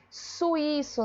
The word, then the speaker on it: suíço: Suíço, né? Ó, é suíço, é hiato, gente. Então, quem é acentuado é a letra I, tá bom?